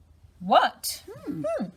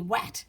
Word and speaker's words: what: the W in front, you need to make an ot sound for this word. So w, ot, what? Like a question mark. What's going on? What do you mean I don't say at? Otherwise it'd be wat, which Yeah.